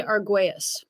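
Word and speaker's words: Argüelles: the teachings of Jose what's how do you pronounce his last name Eden I always say it wrong Dr. Jose Arguous. Jose Argues. Thank So you studied directly under Jose Arguas.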